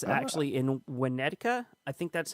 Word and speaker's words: Winnetka: It's actually in Winnetka. I think that's how you pronounce it.